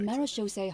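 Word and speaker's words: Marechaussee: group known as The marose Hunters that's how you pronounce that maros I I I have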